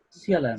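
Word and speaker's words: Sealand: ¿Cómo se pronuncia eso? Cialan. ¿Cialan? Cialan.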